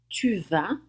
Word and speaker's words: tu vas: Tu vas, você vai, sem pronunciar o S no final.